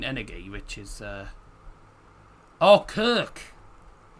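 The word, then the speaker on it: Köck: Vin Energy, which is uh Oh, Kirk. K O C K. But that's it's got the loud, mate. So, it's Kirk Kirk.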